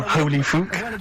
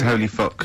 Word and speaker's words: Holy Fuck: You're not pronouncing it right, Steve. I know. I was just a bit edgy there. It's Holy Fuck, the little Chinese fella. Holy Fuck, the little funny Chinese fella.